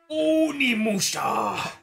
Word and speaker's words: Onimusha: Is this, what's the proper pronunciation or enunciation? Onimusha!